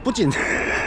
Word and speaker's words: 푸틴: 메인 거리 같은 경우에 조만간에 푸틴 북한식발음으로는 뿌진 뿌진이랑 이제 시진핑이 온다고 해요.